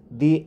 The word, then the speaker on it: the: দা উচ্চারিত হয় যখন পরবর্তী শব্দ ব্যঞ্জন ধ্বনি দিয়ে শুরু হয়, অর্থাৎ কনসোনেন্ট দিয়ে শুরু হয়।